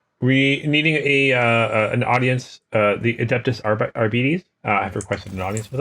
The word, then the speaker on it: Adeptus Arbites: Yeah, okay, Adeptus Arbites. Okay, good, I was pronouncing it right.